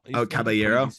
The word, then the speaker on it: Caballero: Caballero.